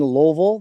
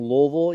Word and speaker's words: Louisville: So currently I'm in louville that's how you say it in case you're wondering louville you're supposed to say it like you have rocks in the back of your throat Louisville so now you're